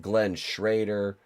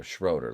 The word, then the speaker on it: Schroeder: Glenn Schrader. Wait, did I say it right that time? Glenn Schroeder. Schroeder. Glenn Schroeder. There we go. Schroeder, like Schrodinger's cats.